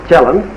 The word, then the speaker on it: Kielland: In 1915, Kielland of Norway, over there it is pronounced Kielland, invented this instrument.